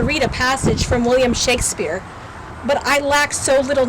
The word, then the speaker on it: Shakespeare: a passage from William Shakespeare, but I lacked so little knowledge, and I was so unaware of things that I pronounced William Shakespeare's name as William Shake-a-Spear.